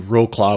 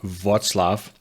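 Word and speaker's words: Wrocław: I flew into Roclaw, which actually is pronounced Vatlaf and from the airport we went for a run in the Polish mountains.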